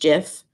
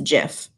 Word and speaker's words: GIF: a gift it's a jiff I looked it up he did a lot of research on this topic and the inventor of gifs says it's a jiff so don't come at